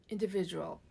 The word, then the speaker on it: individual: Individual. A 5-syllable word with a middle syllable stress. Okay? Individual. Okay? Higher in pitch.